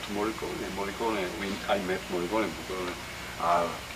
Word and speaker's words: Morricone: Morricone, is that how you say his name? Morricone.